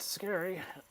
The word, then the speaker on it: Scarry: Hope you guys are familiar with Rigid Scary. Familiar with what? Rigid Scary. Oh, Richard Scary? Yeah. Or was it Richard Scary? Well, they pronounce it scary, so that's what we're going with.